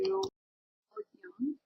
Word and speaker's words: Jung: Before we get to her, let's progress into Jung, and that's how I've been told to pronounce his name.